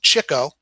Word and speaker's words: Chico: the three oldest brothers his nickname pronounced chico was given him by art fischer during a poker game leonard was notorious for chasing after the chicks or women his phony italian accent